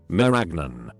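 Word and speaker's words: marañón: The cashew is a handle to a fruit called a merasoon, pronounced like lasagna. Meragnon.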